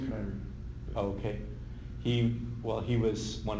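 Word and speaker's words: Kiniry: It's pronounced Canary.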